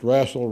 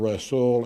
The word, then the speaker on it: Rasul: Supreme Court 2633 and wrestle V Busch and by the way you'll hear that pronounced wrassle wrestle and Rasul and probably a few other ways so I just say